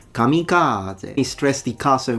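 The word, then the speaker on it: 神風: How do you go about pronouncing it in Japanese? Kamikaze.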